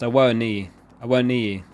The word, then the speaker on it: Awoniyi: Oh, it's pronounced Awoniyi.